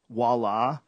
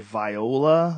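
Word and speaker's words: voilà: There's a few like voila. I remember I read it off a script. I was like viola, like voila.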